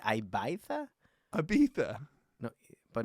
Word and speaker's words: Ibiza: like why did i what did you say ibaitha abita no but not the the first how you pronounced it before i beat that it's not iv it's ibiza ibiza it's all original it's also ibiza well